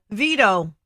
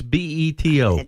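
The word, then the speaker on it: Beto: pronounce his first name no veto no be dough its be eto bado Irish come onboard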